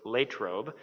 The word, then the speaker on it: Latrobe: let's say you know uh latrobe or as some of you out here in pittsburgh would refer to it latrobe um is our city